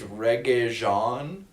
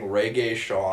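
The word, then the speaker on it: Regé-Jean: name wrong oh yeah it's reggae jean and i thought somebody was saying reggae shawn and i couldn't stop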